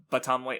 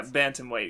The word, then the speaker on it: bantamweight: the champion of the baton white i don't actually know how to pronounce it um i've been pronouncing it bantamweight oh there's an end there yeah bantamweight yeah that's that's okay